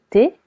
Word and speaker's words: thé: Du thé. Du thé. T. Letter H is silent.